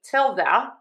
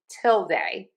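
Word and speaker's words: tilde: I say a till the some people say a till day. For both of these, we are going to stress syllable number one.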